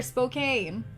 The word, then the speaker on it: Spokane: Is it Spokane or Spokane? Spokane. Spokane. Okay, Spokane. Sorry.